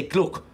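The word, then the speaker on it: G'luck: She meant to say gluck. Gluck. Gluck now. Gluck. Mind yourself. G-apostrophe-L-U-C-K. That's how it's pronounced.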